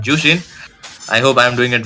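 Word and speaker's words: Zhuxin: I mean, shout out to Ray brother to tell me how to pronounce Zukshin as Jushin.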